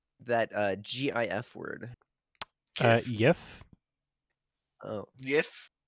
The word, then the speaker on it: GIF: you pronounce that uh gif word uh yes oh yes glyph yes the creator of the gif pronounces it jif but i think he